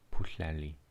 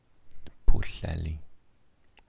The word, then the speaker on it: Pwllheli: This is Pwllheli. Pwllheli. Pwllheli. So you kind of lisp the double L sound in Welsh. Pwllheli.